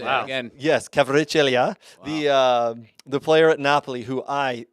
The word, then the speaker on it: Kvaratskhelia: Yes, Kvaratskhelia, the player at Napoli, who Have you been taking language classes to be able to pronounce these names?